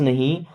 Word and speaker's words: know: I don't नो why they do that, I miss मैं, don't miss नहीं, नो miss जानता, यहाँ पे के साइलेंट होता है ना।